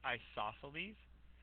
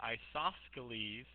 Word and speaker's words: isosceles: this would be right isosceles again I always pronounce that icesoft Scalise to remind you that there is that C in there I saw Scalise right